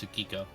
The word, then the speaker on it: Tsukiko: I didn't really say T because the T is silent. It's Tsukiko.